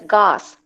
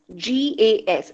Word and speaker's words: GAS: So Seeley, he developed this general adaptation syndrome called as GAS, G-A-S. It's not pronounced as gas, but GAS, G-A-S.